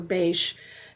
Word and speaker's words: Bach: by um English physician Dr Edward Bach or bash depending on where you're from how it's pronounced but he codified it